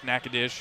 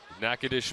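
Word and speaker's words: Natchitoches: Huskers Matt cotney pregame he said nakadish might be the most mispronounced name in sports so I'm glad we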